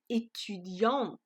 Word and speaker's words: étudiante: So I add the E and I pronounce it a bit differently. Unlike the sentence on top where I had added the S, but no difference in the pronunciation, in this sentence when I add the E, the pronunciation was also different.